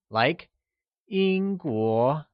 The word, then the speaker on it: Yīngguó: English people translates to Yīngguórén where,Yīngguó is pronounced with a high level tone on the i and a mid rising tone on the o, like Yīngguó Lets hear you say Yīngguórén Good!